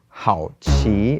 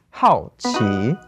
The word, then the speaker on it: 好奇: Oh, this is why the word for curious is not 好奇, it's 好奇, because 好 is to be fond of, to enjoy something, and then 奇 is the strange.